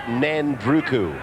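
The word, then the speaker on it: Nadruku: This is Nandruku. And don't think that I've got the name mispronounced. The professor next to me, Sterling, tells me there is a silent N, and it is to be pronounced Nandruku.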